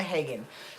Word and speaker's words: Hagen: I swear to God, it's Cleona Hagen.